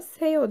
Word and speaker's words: 세요: Yani şayo falan diye okunmuyor, seyo diye okunuyor.